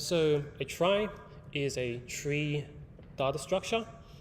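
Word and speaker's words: trie: from retrial um but it's pronounced as try not tree okay so here is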